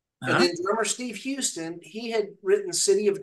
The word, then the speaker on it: Houston: and the drummer was, is it Houston? Steve Houston? Is that how he pronounced it? Steve Houston. Yes. Okay. Steve Houston.